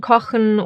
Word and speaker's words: kochen: First one is after the vowels A, O, and U. It sounds harsher and is formed more in the throat, like for example in kochen or acht.